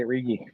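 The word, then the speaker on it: Righi: oh uh robert riggy r-i-g-h-i that's how you say riggy yeah yeah yeah yeah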